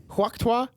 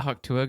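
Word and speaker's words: Hawk Tuah: Huokta? Huokta? Oh, the Haktua girl?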